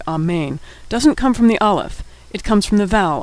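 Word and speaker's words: אלף: hebrew alphabet is aleph aleph is easy to pronounce it's silent aleph is the first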